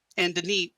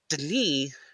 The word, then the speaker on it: D'ni: In a way, Denis, when we split it into two syllables that way, is not how a Denis speaker would have actually said it. They would have actually said Denis as one single syllable, with the d, as really shortened d.